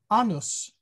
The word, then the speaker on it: anus: from latin and then if you use a short a anus that is an old woman so uh vowel quantities